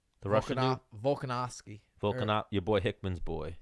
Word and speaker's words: Volkanovski: How do you pronounce his name? The it. Russian dude. Volkanovski.